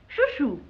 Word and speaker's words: Chouchou: Chouchou. Yeah, what is it, Choo-Choo? No, it's spelled C-H-O-U, C-H-O-U. Yeah, Choo-Choo.